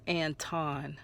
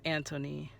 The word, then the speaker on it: Antoine: Oh, I said I did say his name wrong. He says Anton. I'm sorry. I I said it wrong. I thought it was Anthony.